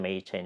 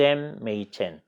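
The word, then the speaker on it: Machen: 그래스 햄 메 2000 우리나라에서는 그레샴 메이첸 여러분 짧고 하는데요 본인이 자기의 이름을 그래스 ma 챈 이라고 발음 해달라고 합니다 4 우리가 그렇게 발음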